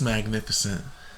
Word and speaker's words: magnificent: It's magnificent. Is what? Magnificent. Magnificent. No. Magnificent. I was surprised that it is 4 syllables.